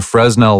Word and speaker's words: Fresnel: Literally, it's Fresnel, but it's pronounced Fresnel. So a Fresnel lens is the kind like you can see